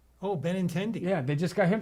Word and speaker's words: Benintendi: I don't even know how to pronounce his name. Andrew Bettinetti. Oh, Benintendi.